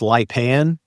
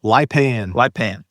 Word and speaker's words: Lipan: That's pronounced Lipan, right? Yes, kind of a Lipan.